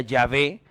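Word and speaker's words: Yahvé: porque tiene el tetragramatón yhh que realmente se pronuncia yavé pero que en la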